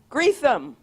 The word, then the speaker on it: Greetham: How do you say her last name? Greetham. Okay. Rochelle, just like it looks.